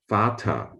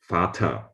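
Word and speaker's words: Vater: this with modern german fatah they sound pretty similar in german v is the same as f in some words the sound f is spelled with a v in others with f no logic behind it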